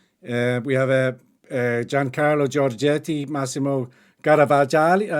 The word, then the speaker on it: Garavaglia: We have Giancarlo Giorgetti, Massimo Garavaglia. Am I pronouncing Garavaglia? Garavaglia.